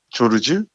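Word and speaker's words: Georges: 조르주, 조지. 이 조지를 영어식으로 발음하면은 조지 엘리엇, 그리고 프랑스어로 하면 조르주잖아요.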